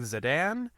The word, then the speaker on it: Zadan: It was directed by Rob Marshall, and the executive producers on it were John Whitman, Craig Zadan. Is that how you pronounce his last name?